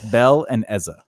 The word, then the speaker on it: Bellezza: And one person called me a barracuda once on stage, and I was just like, all right, look, it's Bell and Ezza.